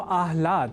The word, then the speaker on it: आह्लाद: या न लिखकर हम आह्लाद अर्थात पहले ह और बाद में ल इस अक्षर विन्यास से युक्त शब्द आह्लाद का ही लेखन और तदनुसार शुद्ध उच्चारण करेंगे।